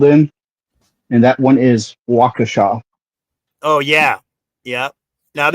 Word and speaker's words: Waukesha: the two above, which I loved hearing during the Daryl Brooks trial, no one could pronounce the city it was being held in, and that one is Waukesha.